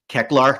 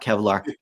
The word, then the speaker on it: Kecklar: And with regards to Eternia, look, we didn't get Kecklar, not Kevlar, Kecklar. Say it right.